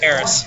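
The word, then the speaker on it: Aerith: Eris from Final Fantasy 7. Eris from fun okay yeah it's pronounced heiress I know um who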